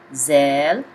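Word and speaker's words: ذال: as zee in english zel pronounced as zee in english zel as in zeal it's very close to english sale means tail sale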